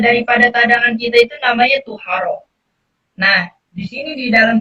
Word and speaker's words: طهارة: Amma tuharona. Sekarang di sini nih. Ini perbedaan. Kalau tadi kan to-nya itu di fathah. Kalau sekarang to-nya itu di doma. Jadi bacanya tuharo.